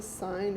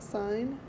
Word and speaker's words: sine: way we often abbreviate sine to just s i n but when we use it don't pronounce that as sin okay it's the sine